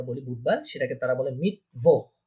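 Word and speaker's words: Mittwoch: Wednesday যেটা আমরা বলি বুধবার, সেটাকে তারা বলে মিটভোহ। মিটভোহ, মিটভোহ বলেন। ইয়া, মিটভোহ। হ্যাঁ, হ্যাঁ, হ্যাঁ, মিটভোহ, মিটভোহ, ইয়া, খ উচ্চারণ হবে মিটভোহ।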